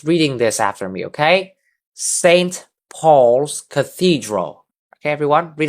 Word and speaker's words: St.: So the st part uh it's actually short for saint. So yeah, St. Paul's Cathedral.